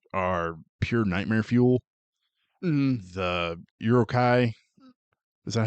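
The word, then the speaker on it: Uruk-hai: The Urukai, is that how you say it? Sure. I I always pronounce it Urukai.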